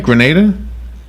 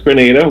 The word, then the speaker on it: Grenada: And am I saying it right, Grenada? That's right. It's Grenada. It's not Grenada. It's Grenada.